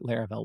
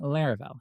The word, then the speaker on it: Laravel: But back then, nobody knew what Laravel was. In fact, when people heard the word, they called it Laravel, not Laravel. And actually, some people still do today. But trust me, the correct pronunciation is Laravel.